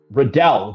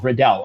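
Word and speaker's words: Royval: C says on the comment section, "Riddle, not Riddle, rhymes with Liddell." Okay. Uh Riddle. Okay. Redell. Redell.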